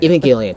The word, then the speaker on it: Evangelion: Evangelion. That's how it's pronounced.